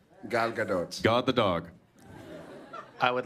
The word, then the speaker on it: Gadot: how do you say it galado g g Gadot Gadot God the dog I would like to see